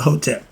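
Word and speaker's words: Hetep: Next one, last one, the hieroglyph for the hieroglyph for the Hotep. I spell it H-E-T-E-P. The O and the E in Egypt pretty much had the same enunciation sound.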